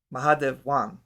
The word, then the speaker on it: Mahadevan: Mahadevan, I believe is how it's pronounced.